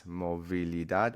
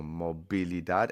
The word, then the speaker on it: movilidad: So you could pronounce this movilidad or mobilidad, and it doesn't even matter because Spanish people, they